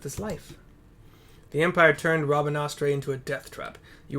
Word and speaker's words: Rabanastre: Like Raban Astre. Except it's not spelled like Raban at all. It's Rabanastre.